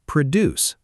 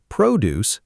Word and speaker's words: produce: And produce, stress on the second part, is a verb meaning to make or create something.